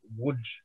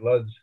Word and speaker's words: Łódź: So this guy on this Jewish stem from the ghetto Liebsminster, which was the Polish town of, as my grandmother pronounced it, Łódź, or as we say, Lutz.